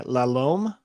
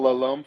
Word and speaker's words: La Lom: You spell Lalome for me? L-A, new word, L-O-M. Oh, just like it sounds. Great. And it's there's no B at the end. Not a silent B. Does not rhyme with cologne.